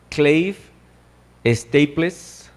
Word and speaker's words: Clive Staples: estables no así como se escribe pero se pronuncia clive staples lewis bueno cs lewis él nació en belfast